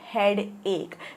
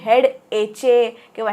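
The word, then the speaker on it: headache: आपण म्हणतो हेडेक okay जरी स्पेलिंग असेल एच ई ए डी ए सी एच ई तरी हेड ए किंवा हेड आके असं काही वाचायचं नाहीये इट इज हेड एक ऑल राइट आय हॅव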